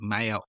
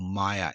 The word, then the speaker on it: Meyer: The Twilight series of books written by Stephanie Meyer, or Meyer, M-E-Y-E-R. So not really spelled like Meyer, the Australian department store. Meyer, probably.